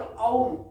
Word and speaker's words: ओम: ओम त्वमेव साक्षात्, देखिए यहाँ दो शब्द हैं, ओम पहले आएगा एज यूजुअल, और बीज मंत्र ओम, ए उ मैं, ए यू एम, उसका उच्चारण अलग रहेगा ओम की बजाय।